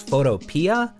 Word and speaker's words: Photopea: Personally, I read it as Photopea, like Utopia, and the creator says Photopea, but apparently the creator